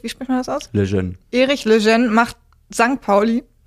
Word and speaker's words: Lejeune: Erich, wie spricht man das aus? Lejeune.